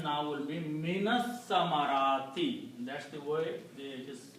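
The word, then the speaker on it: مِنَ الثَّمَرَاتِ: So the pronunciation now will be minas samarati.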